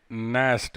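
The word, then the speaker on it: gnash: दे नेस्ट, देखो ये जी से शुरू है बट साइलेंट है।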